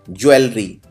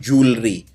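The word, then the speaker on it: jewellery: अगला शब्द है ज्वेलरी। वैसे इसको लिखते हैं ज्वेलरी, लेकिन बोलते हैं जूलरी। अंग्रेजी में इसको जूलरी बोला जाता है, यानी गहने, यानी जेवर।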